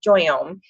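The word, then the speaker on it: JOYōME: line called joy Yom if you see this picture and you don't know how to pronounce it that's how you pronounce it is joy ohm and it's a very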